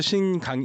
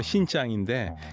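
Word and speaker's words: 新疆: 그래서 신강 우리 한국식 발음은 신강이고 중국말로 신짱인데 그게 새로운 강토라는 뜻입니다.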